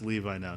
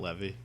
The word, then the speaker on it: Levi: be big but a superhero movie um Zach Zachary Levi so we know for sure it's Levi now not Levy I don't care oh boy it's we've mispronounced so many names at this point that